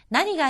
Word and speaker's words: 何が: 여기서의 무엇이라고 하는 것을 낭이라고 하지 않고 나니라고 읽었습니다. 나니가 아리마스까 하면은 무엇이 있습니까?